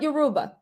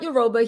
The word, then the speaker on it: Yoruba: you know he's not yoruba so anyway i know i'm mispronouncing that too i don't mean disrespect somebody give me the phonetic spelling yoruba he's not euroba he's been in right